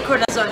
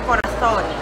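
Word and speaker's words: corazón: Spanish, for example, I would say corazon. So if you're Filipino, you would say corazon, as in there's the letter Z. But in Spanish, it should be said as corazon. So it's like TH.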